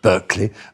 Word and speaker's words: Berkeley: You have to say that obviously the pronunciation is Berkeley.